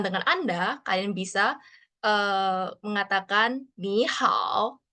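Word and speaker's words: 你好: Anda, kalian bisa mengatakan ni hao. Nah, ini nada ketiga ya. Jadi pelafalannya itu agak rendah.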